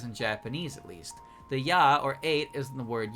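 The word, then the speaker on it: 八: Now, I hope you'll notice that whenever it's used that way, it's always pronounced ya.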